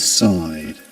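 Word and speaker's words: sighed: do we pronounce or how is side pronounced this word especially given that it's in the simple past. The infinitive verb is sai sigh. Sai sai. And this is something I was mentioning to you before with him with signaled and pulled over. Why is it that that we pronounce the the ed ending as d and not as t or eid.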